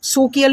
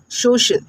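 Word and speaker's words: social: यदि सी के आगे आई ए हो तो सी का उच्चारण श बन जाता है, ठीक है। जैसे सोशियल, अब इसको आप सोकियल नहीं बोलेंगे, शोकिल बनेगा नहीं, सोशल, सोशल, CIAL, ओके।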